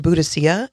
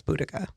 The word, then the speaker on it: Boudica: wrong for a while uh she was called buddhasia at first and it was uh discovered later the proper pronunciation of her name was boudica hmm there are two main literary sources that